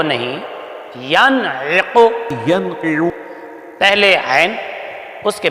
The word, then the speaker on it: ینعق: پیش قو، ینعق ينقع بیٹے ینقع نہیں، ینعق پہلے عین پڑھو پھر اس کے بعد قوف پڑھو، ینعق ينقع بیٹے جس